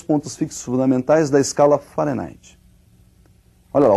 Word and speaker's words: Fahrenheit: Para eles lá eles pronunciam Fahrenheit e nós vamos pronunciar aqui do modo aportuguesado, ou seja, nós vamos falar de Fahrenheit mesmo.